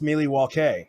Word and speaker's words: Milwaukee: that route actually bradley it's pronounced miley waukee which is algonquin for the good land yes thank you thank